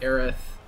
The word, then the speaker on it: Aerith: it in the game they pronounce it aerith right yeah but because